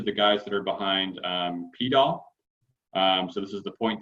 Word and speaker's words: PDAL: Apparently they pronounce it poodle, which was news to me. So I don't know. I don't know that we need to adopt that, but their package is called PDAL. They named it intentionally to rhyme with GDAL.